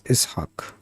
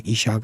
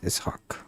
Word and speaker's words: Ishaq: And it should be pronounced right. So it's Ishaq. Yeah, I was really shy back then. If someone had called me Ishaq, I would be like, yeah, okay, Ishaq, sure.